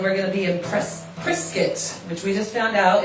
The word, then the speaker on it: Prescott: going to be impressed priscuit which we just found out it's not Prescott it looks like they pronounce it like a biscuit biscuit which is good to